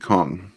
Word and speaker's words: Kong: You pronounce it Kong.